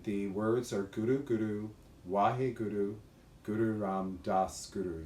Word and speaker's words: Wahe: We chant 31 minutes to Guru Ram Das, and we call it the mantra for miracles, and the words are Guru Guru, Wahe Guru, Guru Ram Das Guru.